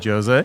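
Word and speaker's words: José: So, as you said, my name is Jose, and we were having a conversation about this. I'm Portuguese, which is why it's got a hard J.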